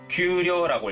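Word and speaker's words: 丘陵: 구릉은 규료라고 읽고요.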